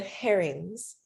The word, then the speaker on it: herrings: So the trick with the plot twist is like, and I found out recently I've been saying it wrong, red herrings, hard H, distractions, because you present